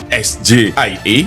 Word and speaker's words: SGIE: Pertama, SGIE itu harusnya membacanya SJIE. Bukan dalam bahasa Inggris.